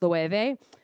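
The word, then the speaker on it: Loewe: based out of Spain I think it's pronounced lueve um thank you um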